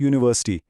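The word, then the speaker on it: university: दूसरा सवाल है, I study in dash यूनिवर्सिटी। ये वही मशहूर जमाना धोखा है। यू को देखकर बहुत से लोग एन लगा देते हैं, लेकिन आवाज क्या है? यू, और यह एक कॉन्सोनेंट साउंड है, इसलिए दुरुस्त जवाब है ए।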